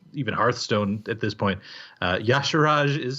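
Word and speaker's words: Y'Shaarj: name I'll point you to the old God Yash Raj which is spelled if you don't know Wow lore or even hearthstone at this point Yash Raj is spelled why ' Sh á á rj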